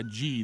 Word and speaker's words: ghee: Oh gosh, here comes our ghee expert.